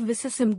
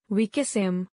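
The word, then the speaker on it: vicissim: it at all and instead of visim God bless my soul you'd make them say we kiss him and chips chuckled forgetting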